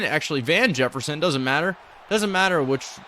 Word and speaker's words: Van Jefferson: Von Jefferson, actually Van Jefferson, doesn't matter. Doesn't matter how you say his name. He's just producing. I always incorrectly say it. It's Van, but I say Vaughn.